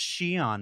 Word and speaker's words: Xi'an: And if your instinct was to stop the YouTube video and go immediately to comments and say, it's pronounced Xi'an, Mark, get a better hobby.